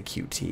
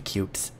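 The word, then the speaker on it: Qt: I know I've like learned about the proper pronunciation I still want to say cutie because that just sounds better but it's dependently supposed to be cute whatever its cutie I'm not I'm not calling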